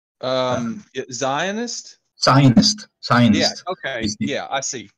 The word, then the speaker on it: Zionist: If you want to be in the other extreme with Jewish people, they are sinist. I think that's how it's pronounced. Sinist? Right? Zionist? Zionist.